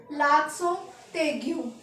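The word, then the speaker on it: accent aigu: एक्सेंट होता है हमारा लासो तेगू क्या होता है लासो तेगू इसे हम जॉइन करके पढ़ेंगे टी को तेग तो लास तेग हमारा लगता है ऐसे और य इट ओनली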